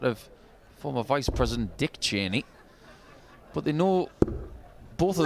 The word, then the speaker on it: Chaney: And yeah, Chaney, spelled a different way. I think Dick Chaney was C-H-E-N-E-Y, but pronounced the same, obviously.